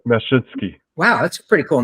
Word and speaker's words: Mashinsky: Can you pronounce his last name? I have such a hard time here. I would say Mashinsky.